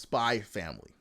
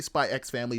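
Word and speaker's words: Spy × Family: you don't know their animes that have x's and then the x is silent it's so it's spy family you could say spy X family doesn't matter to me but that's what people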